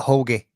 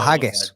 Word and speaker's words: Haggis: A Hogy? Oh, a haggus. Sorry. Uh, just the way you pronounced it.